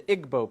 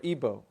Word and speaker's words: Igbo: Another area in Africa you have uh something big happening is in Nigeria you have the Igbo people or Ibo pronounced either way.